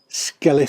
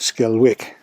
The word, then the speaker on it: Skelwith: so far here art skeleth falled sight skeleth with the w skull with it's like keswick the w is silent skelet not skull wick the dogs decided to